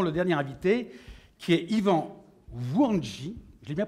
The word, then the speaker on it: Yvan Wouandji: Et puis nous avons le dernier invité qui est Yvan Wouandji. Je l'ai bien prononcé?